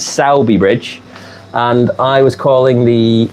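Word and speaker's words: Sowerby Bridge: name properly so yeah I've been calling it soby Bridge apparently it's saby bridge and I was calling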